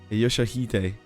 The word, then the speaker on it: Yoshihide: 요시드라고 읽는 거다. Yoshihide.